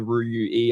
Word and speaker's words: Ruyui: who's the Ruyui, and I'm going to pronounce that correctly, the Ruyui, I hope that's right, founder. So we'll be talking about that today as well. So Voxel, thank you so much for joining us today. Thank you very much for having me. And also, you are pronouncing it correctly.